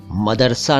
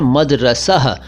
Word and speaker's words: मदरसा: मदरसा शब्द भी दर्स से बना है, लेकिन इसका सही उच्चारण मदरसा नहीं है। जी हाँ, मदरसा नहीं कहना चाहिए, ये शब्द है मदरसह।